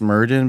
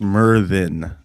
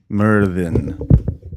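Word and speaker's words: Myrddin: Yeah, so it's spelled like it would be pronounced Murden, but it's pronounced Merthin. Merthin.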